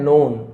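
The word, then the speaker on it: known: जो जाना जाता था के साइलेंट है नोन जाना जाता था टू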